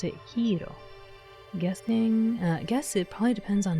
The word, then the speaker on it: gyros: Wait, is it really hero or gyro? Gyro the thing pronounced hero. Oh, okay, I didn't know that. I was like, gyros. I always said gyros whenever I saw it.